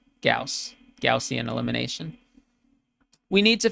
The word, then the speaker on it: Gauss: It's spelled this way, but it's pronounced Gauss.